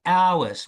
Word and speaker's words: hours: There are 24 hours. We start with the O hours. We don't say there are 24 hours. No. So that letter H is a silent letter.